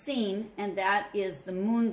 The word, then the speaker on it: Sin: of sinai now sinai has a little word s-i-n at the beginning of it and that is pronounced seen and that is the